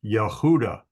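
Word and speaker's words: יהודה: of a uh hay then you've got VAV and doot or a v sound and a D sound so she called his name name Yehuda so if we go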